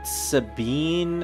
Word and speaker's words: Sabin: Sabin! Or Sabine, apparently, is how some people pronounce him.